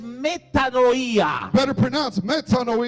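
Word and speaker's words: metanoia: viene del griego de la palabra mejor pronunciada es metadoía dilo conmigo es una palabra griega en el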